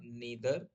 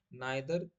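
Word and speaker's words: neither: नीदर यूज करूंगा तो मैं बोलूंगा नीदर इसको नादर भी पढ़ सकते हैं आप नाइ दर यू लाफ ना तो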